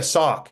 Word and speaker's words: Sauk: Oh yeah, Sauk. Yes, yes. No, it's not. What? No. How'd you spell it?